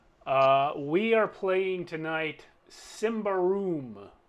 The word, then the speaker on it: Symbaroum: we are playing tonight simba room which is how i believe it's pronounced and uh i watched several youtube videos from people who pronounced it that way so that's what we're